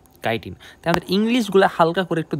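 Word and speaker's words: chitin: এইচ আইটি আই এন অনেকে এটার চিটিন চিটিন পড়ে বাট এটা কিন্তু চিটিন না এটা কি কাইটিন আমাদের ইংলিশগুলা হালকা করে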